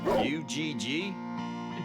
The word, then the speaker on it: UG: hobby one more for the ug uh it's pronounced ug sir u g it's ug it's not difficult you didn't tell